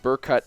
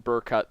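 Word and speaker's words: Berkut: I will probably pronounce his name Burkut throughout this video, so don't shank me. It's how I pronounce it. It's the phonetic pronunciation. There needs to be an umlaut there if I want it to be called Burkut.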